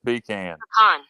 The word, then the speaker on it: pecan: well it is done it's pecan where y'all from it's not P like you're peeing it's not you're not